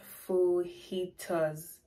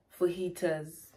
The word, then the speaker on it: fajitas: we have fajitas it's spelt f-a-g-j-i-t-a-s but the pronunciation here is full heaters for heaters anyways let's start with the second which is